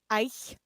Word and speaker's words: Eichhörnchen: I can hunch Eichhornchen. Eichhornchen. It's Eichhörnchen.